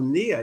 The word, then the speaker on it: Nia: And tell us about Sisters of Nia. Am I saying it right? You are.